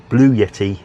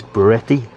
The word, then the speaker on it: Bluetti: I kept saying calling it Blue Yeti in the last one, but that's a microphone, but it's Beretti.